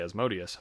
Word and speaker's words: Asmodeus: How do you say that? I say Asmodeus.